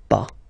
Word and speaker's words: pas: Okay, but as usual, final s is not pronounced, so it's pas.